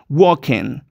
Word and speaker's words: walking: Walking In The Park en la palabra no se pronuncia la l yo creo que ya lo sabes pero por si acaso dejo este apunte Porque mucha gente se olvida Walking Walking la g tampoco suena no muy bien Qué dir aquí acá